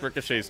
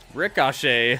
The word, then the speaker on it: Ricochet: Ricochet. I've never heard anybody say it like that. Ricochet. Like it has an A in the middle. Ricochet.